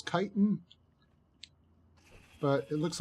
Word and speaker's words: chitin: it I think it's I've been told it's chitin but it looks like it's spelled chit Mimi so potato potato tomato tomato